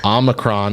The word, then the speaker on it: omicron: are harassing me and yes omicron is how you pronounce the omicron variant that's not what we're